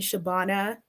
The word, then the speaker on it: Shabana: Shabana is generally what people call me Shabana, if you can pronounce it is the correct way. Shabbana.